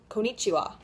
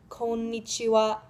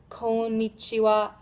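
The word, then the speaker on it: こんにちは: japanese is konichiwa you probably heard it as konichiwa right maybe well that's basically right but just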